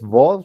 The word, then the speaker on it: vo: Tenemos esta que es vo, se pronuncia tal cual como nuestra V, solo que toca tener mucho énfasis de no pronunciarla como una bo, porque esa sería esta de acá, sino como vo, vo. Es labiodental la pronunciación.